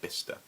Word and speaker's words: Bicester: spelt by sister but apparently it's pronounced bista and and that was